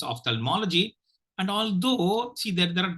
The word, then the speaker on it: ophthalmology: the pronunciation very carefully Ophthalmology Ophthalmology of thermology Ophthalmology you will be tempted to give more stress on tal but don't do that okay ophthalmology Ophthalmology because